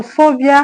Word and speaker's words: phobia: So phobia has its stress on PHO, which is the first level of the word phobia.